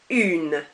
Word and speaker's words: une: And then you've got feminine, which is une.